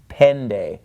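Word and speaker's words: πέντε: followed by the knee it is pronounced more like an English D so instead it's not pente it's pende all right right so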